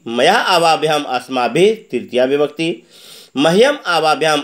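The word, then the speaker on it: मह्यम्: उच्चारण पर ध्यान देंगे, कहेंगे मह्यम, हय संयुक्त है मह्यम आवाभ्याम अस्मभ्यम, असम संयुक्त भय संयुक्त म अस्मभ्यम।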